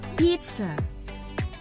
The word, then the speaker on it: pizza: cara membaca yang benar adalah it's a pizza pizza contoh di awal wichai me a di awal